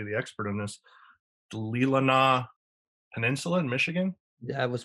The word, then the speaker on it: Leelanau: The Leelanau Peninsula in Michigan. That was pretty close. Yeah, Leelanau Peninsula in Michigan is on the 45th, as